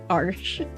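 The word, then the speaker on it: Arches: paper my favorite is AR arsh I I learned how to pronounce that arsh so that's my favorite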